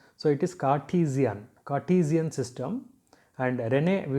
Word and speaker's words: Cartesian: is also known as cartesian system that is the pronunciation is ca t z n that means r is silent so it is cartesian cartesian system and renee